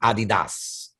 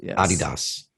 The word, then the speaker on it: adidas: shoes uh you know and i think the pronunciation is actually adidas it's how it's actually pronounced adidas yes it's actually it's the last name of